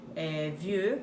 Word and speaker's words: Vieux: Vieux, que em francês é velho, quer dizer V-I-E-U-X. Montréal, que é Montreal, como se escreve em português.